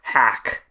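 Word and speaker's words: HAQQ: i have uh liturgies h a q q or hack depending on how you want to pronounce it i have literally just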